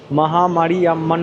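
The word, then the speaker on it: Mariamman: নামগুলো এমন এমন না আমি এটাকে পড়েছিলাম উচ্চারণ করেছিলাম মহামারী ইয়াম্মান তো ও আমাকে মানে উচ্চারণটা সংশোধন করতে বলল মহামারী ইয়াম্মান মন্দির দক্ষিণ ভারতের ধাঁচে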